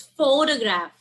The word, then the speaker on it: photograph: yeah correct it's photograph the stress and this is the first syllable it's photographer it's photographic